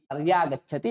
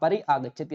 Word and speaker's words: पर्यागच्छति: पर्यागच्छति ऐसा बनेगा, आप परि आगच्छति ऐसा उच्चारण नहीं कर सकते।